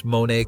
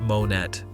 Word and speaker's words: Monet: Learn to pronounce Monae correctly. It's not Monet, apparently.